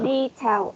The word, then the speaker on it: detail: Detail oriented. Detail oriented. Okay, detail. We will stress the first syllable.